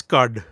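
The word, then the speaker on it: Qud: Was it Caves of Quad or Cood? It's CUD. CUD.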